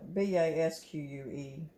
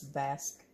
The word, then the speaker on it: Basque: It's B-A-S-Q-U-E. It's Basque. It's a French word. Yes, Basque. Pronounced like you bask in the sun, the way I understood it.